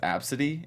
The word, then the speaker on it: Abcde: Her name was Absidy. You know how you spell it? ABCDE. I kid you not.